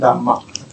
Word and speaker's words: Dhamma: When you go to China, the R, of course, we lost. So it becomes Dhamma. No R.